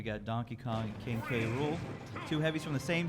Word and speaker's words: K. Rool: Yeah, they just pronounced it Cruel. I don't think they ever. No, they ever said K. Rool.